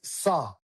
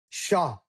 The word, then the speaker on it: saw: Not there's no there's no I heard this as See, I heard this as sha. Not sha. It's not It's not sha. It's saw saw. Not sha.